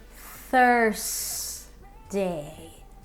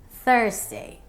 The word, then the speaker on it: Thursday: pronounce Thursday okay so here comes the correction first day Thursday Thursday good job if your